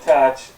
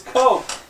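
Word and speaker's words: Koch: You said catch. You did. It's coke.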